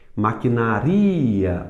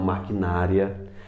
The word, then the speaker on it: maquinaria: ibero e não íbero maquinaria o ri é mais forte e não maquinária Normandia e não Normandia